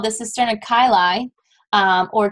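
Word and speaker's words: chyli: lymphatic ducts so there's something called the CNA kyai um or chaii it's pronounced kyi technically uh this is an expanded chamber that's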